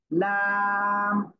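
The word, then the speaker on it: لام: জিহ্বার agar কিনারা, জিহ্বার agar কিনারা, জিহ্বার agar কিনারা উপরে মাড়ির দাঁতের গোড়ার সাথে লাগিয়ে, মাড়ির দাঁতের, হ্যাঁ, জিহ্বার আগার কিনারা উপরে মাড়ির দাঁতের গোড়ার সাথে লাগিয়ে উচ্চারিত হবে কি?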